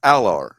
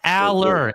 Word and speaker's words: Aller: Oh, then it's Alar. It's not Alar. Allar. It's not It's Allar. Aller. Aller is how it's pronounced. Drew names, Adler. Names are don't follow rules. But if we were to follow grammatical rules, the double L makes it an A sound.